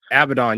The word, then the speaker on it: Abaddon: I was saying I don't see how I can't pronounce her name. I'm a butcher. Abaddon. Abaddon, yeah.